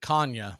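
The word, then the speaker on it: Canha: throw by Murphy and according to Mark he pronounces it Kanye so I'm gonna go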